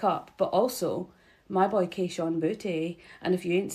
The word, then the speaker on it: Kayshon Boutte: But also, my boy Kayshon Boutte.